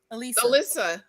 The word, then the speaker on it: Alyssa: Is it Alyssa or Lisa? Alyssa. Alyssa. Okay, Alyssa. ALY, right? Yeah, right. ALY. Alyssa.